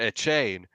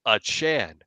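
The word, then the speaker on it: Achane: that is yes everybody was calling him Devon a chain after the game he straight up goes to the media and says y'all been pronouncing my name wrong for this whole time I am it's pronounced a Chan and everybody's like okay everybody's like huh huh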